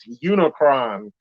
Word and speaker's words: Unicron: say the unicron variant unicron that the name that rhymes with unicorn unicron was a planet-devouring